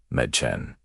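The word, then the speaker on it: Mädchen: It makes a sound like the E in bed. A good example is the word for girls which is machan. C medchen.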